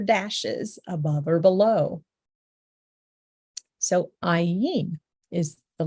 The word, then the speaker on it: ayin: So ayin is the letter, ayin.